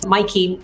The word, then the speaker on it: Maaike: There's only one country in the world where they know how to pronounce that, and that is in the Netherlands. Maaike.